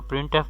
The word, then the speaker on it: printf: तो प्रिंट एफ pronounced as प्रिंट एफ।